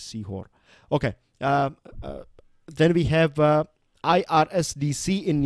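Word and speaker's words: Sehore: And then we have Sihor, right? That's what the pronunciation is, Sihor.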